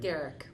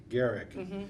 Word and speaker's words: Gerecke: Now, Marie, I'm going to pronounce your last name. Gerecke. Gerecke.